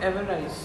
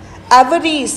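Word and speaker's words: avarice: एवरीज. एक तो प्रोनाउंसिएशन ठीक से बोलो. एवरीज इज ग्रीड.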